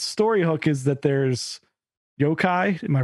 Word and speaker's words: yokai: So it's got normal people in it, but then it also, its story hook is that there's yokai. Am I pronouncing that right?